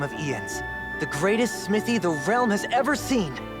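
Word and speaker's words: Jens: One day, all will know the name of Ian's, the greatest smithy the realm has ever seen. I've been saying his name wrong the whole time, I guess. It's like Ian. It's like Ian's.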